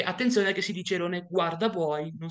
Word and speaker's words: airone guardabuoi: attenzione che si dice Erone guarda buoi non si dice Erone guardia buoi perché di solito mi è capitato di vedere questa cosa abbastanza frequentemente il nome corretto è irone guard booy Ma perché si chiama